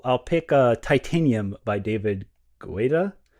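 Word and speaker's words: David Guetta: I didn't quite know what to sing, so I'll I'll pick uh Titanium by David Guita. That's how you say it.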